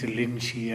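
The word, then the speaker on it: Linji: Japanese pronunciation is Rinzai, Chinese is Linshi and so on.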